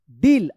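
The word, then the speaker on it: deal: इसको याद रखिएगा, रियल, डी ई ए एल, डील। अब देखिए यहाँ पे यहीं पे आ गया डील, इसको डीएल मत पढ़िएगा, ध्यान रखिएगा, आर ई ए L, reel.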